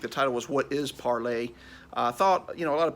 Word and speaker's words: Parler: It is in fact pronounced parlay.